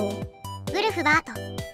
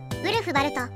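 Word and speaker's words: Ulfberht: よね何あれあれは vlfborh と書いてんだよなんて読むのよウルフバートやウルフバルトと呼ぶらしいなそれでこれは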